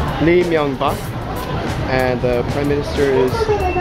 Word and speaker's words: Lee Myung-bak: His name is pronounced Lee Myung-bak, and the prime minister is Chung Woo-chan.